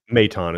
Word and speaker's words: Maton: Maton, how do we how have we agreed on how we're pronouncing? Mton is how Okay.